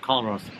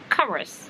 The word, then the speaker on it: Culross: It's not Culross. No. You don't pronounce the L. No, it's pronounced Culross.